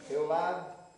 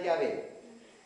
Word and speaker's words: Yahvé: Jehová, o en realidad el Jehová, una equivocación, la pronunciación probablemente era Yahvé.